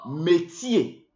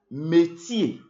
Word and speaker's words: métier: termine un mot français le er se prononce et et alors nous avons Javier nous avons métier métier le métier job job